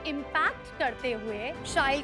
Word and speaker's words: Shyle: So as you just said, it rhymes with style।